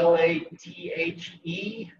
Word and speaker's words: lathe: wood legs so that's la l-a-t-h-e pronounce the lathe wood lays so those